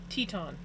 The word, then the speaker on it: Teton: Or is it Tetan? It's Titan. I can never I can never say it right. Teton.